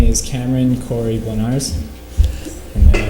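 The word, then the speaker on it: Bloniarz: My name is Cameron Corey Blenars, and then it's spelled, the last name is spelled B-L-O-N-I-A-R-Z.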